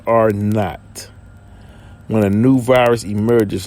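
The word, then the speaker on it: R₀: The exact threshold depends on the effectiveness of the disease, represented by the basic reproduction number called R with the little zero at the bottom. Is pronounced R naught.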